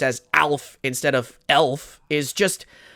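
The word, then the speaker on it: Aelf: a e LF and they pronounce it like the funny little alien man that ate cats back in the 80s when words that start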